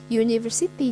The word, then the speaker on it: university: Karena pengejaannya adalah u, y, ya, university. Jadi tetap a university, ya, bukan an university karena pengejaannya tidak bersuara vokal.